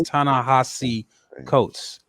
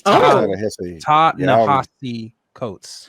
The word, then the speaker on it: Ta-Nehisi Coates: His correct pronunciation is Ta-Nehisi Coates. It's Ta-Nehisi Coates. Ta-Nehisi.